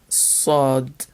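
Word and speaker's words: ص: Letter Sod, sod. This is a very emphatic S sound.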